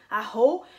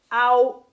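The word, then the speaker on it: 青: Et si vous dites aho, c'est vraiment une insulte et c'est vraiment pas un mot à utiliser. Ben, c'est un mot à connaître, mais c'est pas un mot à utiliser, surtout si en plus vous voulez parler du bleu. Hein? Donc, si vous voulez parler du bleu et vous dites continuellement aho, aho, ben là, vous risquez d'agacer. Hein? Donc, faites très attention à ça. Ao. Ao, ça veut dire bleu.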